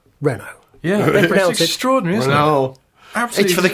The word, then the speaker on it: Renault: there to say uh Mr actually you pronounce it Rena yeah extraord Absol for